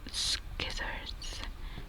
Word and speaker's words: scissors: So the way I'd say it is obviously skizzers, skizzers, skizzers, skizzers, skizzers, skizzers, I think it's because it's kind of, there's a whole S in the front of it. Why would I not say it? There's like a whole, sorry, what am I talking about? There's like a C in between. How am I going to ignore a C?